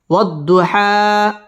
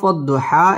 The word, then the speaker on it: والضحى: واو ضاد زبر وض ضاد পেশ দু وض হা খারা জবর হা والضحى ওয়াও ঠোঁট গোল করে উচ্চারণ করব ওয়াদ দত তাসদীদ ওয়ালা হরফ والضحى এক আলিফ টান দিয়ে